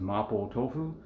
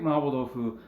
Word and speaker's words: Mapo Tofu: So we're going to be doing making Mapo Tofu, which is just how I pronounce it. Again, that's the Japanese way of pronouncing what you guys might be more familiar with as Mapo Tofu.